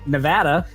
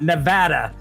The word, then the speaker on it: Nevada: every DMV, it says, "Real Neadans pronounce it Nevada. If you say Nevada, get out."